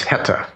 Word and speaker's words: Heta: Yeah, well, it's an Austrian bank, and I'm going to guess that the pronunciation of its name is Heta, H-E-T-A, Asset Resolution Corp, A-G.